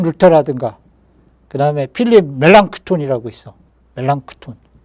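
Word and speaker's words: Melanchthon: 멜랑크톤. 어. 플랑크톤 멜랑크톤하면 플랑크톤하고 발음 비슷해 갖고 좀 헷갈릴 수 있는데 멜랑크톤 어이라고 필립 멜랑크톤이라고 루터의이 오른팔과 같은 사람이거든.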